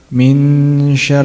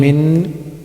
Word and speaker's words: من شر: Not min. إخفاء means to conceal or to hide. That means we're hiding the pronunciation of Noon. Okay. من شر. من شر. My tongue shouldn't be touching anywhere. The sound should be coming from the nasal.